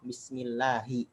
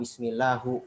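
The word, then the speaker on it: بسم الله: Kenapa kita baca basmalah Allahnya dengan lafaz kasrah, bismillahi. Kenapa nggak bismillahu? Kenapa nggak bismillah? Karena di situ dia pertama, karena di situ ada lafaz ism didahului oleh huruf ba.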